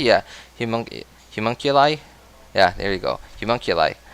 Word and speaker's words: homunculi: Am I even pronouncing that correctly? Yeah. Homunculi?